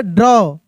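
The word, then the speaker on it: draw: तो इसको हम लोग पढ़ेंगे ड्रॉ ड्रॉ समझ रहे हैं ना आफ्टर अ वाइल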